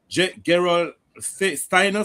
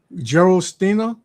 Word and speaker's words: Gerolsteiner: I think it's called Gerald Steiner, something like that. Right, that's it. Yes, spell it. GER. Oh, it's GER. Yeah, GEROLSTEINER. Yes. Mineral water. My wife drinks. Okay. Gerald Steiner.